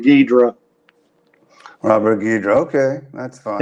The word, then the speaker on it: Ghidra: So I thought it was pronounced Ghidra, but I went on Google today and put the name in, and they say the Italian pronounced it Ghidra, just like you us gringos do. So we'll call him Ghidra.